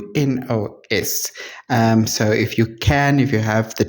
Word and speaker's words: Menounos: on Maria guys, I don't know how to pronounce her surname. I don't know this lady. It's Menounos.